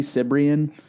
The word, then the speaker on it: Cibrian: Sabaro. Eddie Cibrian.